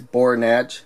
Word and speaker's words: Bornach: you pronounce it exactly i think it's bohr natch but it's a b-o-r-n-a-c-h so he does have